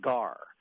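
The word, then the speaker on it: גר: 19:34 is the Hebrew word pronounced gar.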